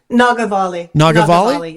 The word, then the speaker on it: Nagavali: And that features, I don't know how to pronounce this, Nagavali? Nagavali, yes.